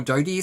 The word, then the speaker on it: Dodie: Castle depending on how you say it by Dodie or Dodie Smith I've been wanting to read this book